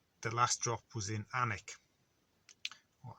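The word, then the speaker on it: Alnwick: then there was the last drop was in anik or alma wick as it's spelt as it's yes belt pronounced anik famous for harry potter or the anik castle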